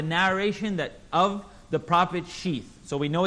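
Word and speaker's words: شيث: and the name of his son was sheath say it properly for me bring her tongue out everyone sheath or pronounced in english as Seth right as in that set is correct and mufti menk has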